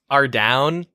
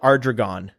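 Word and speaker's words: Ardougne: Ardown. Ardown. For the longest time, I used to call it Ardragon, which is not even close to how you pronounce that word.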